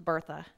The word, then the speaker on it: Bertha: In German, it's pronounced Bertha, and in English, it's Bertha.